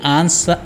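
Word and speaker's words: answer: में साइलेंट के देखिए आंसर आंसर में जो डब्लू है वह साइलेंट है आंसर नहीं बोलते हम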